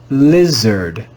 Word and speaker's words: lizard: is an irregular word in this word the letter i is read with the short i sound we would read this word as lizard lizard lizard this is